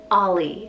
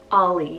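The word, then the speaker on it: Auley: name so i have the name ollie spelled a-u-l-e-y ollie now this one means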